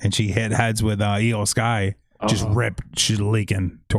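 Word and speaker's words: IYO SKY: from eio sharai to EO Sky because and they spelled EO I yo so people knew how to say it rather than just because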